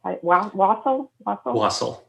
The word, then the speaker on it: wassail: our friends and drinking wassail. And is that how you pronounce it? Wassail? Wassail. There you go.